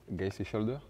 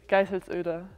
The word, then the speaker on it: Geiselsöder: Geiselsöder. It's not bad, actually. It's Geiselsöder. Geiselsöder.